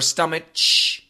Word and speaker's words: stomach: a c h stomach we do not say stomach or stomach we say stomach with a k sound at the end so stomach is the